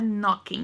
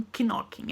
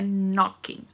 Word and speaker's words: knocking: É, não pronuncia o K, tá? Então é knocking, não kinoking, é knocking.